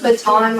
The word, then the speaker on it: Baton: Are you saying baton like a twirling baton? Yeah, B-A-T-O-N. Baton, baby. The one. That's how you say it.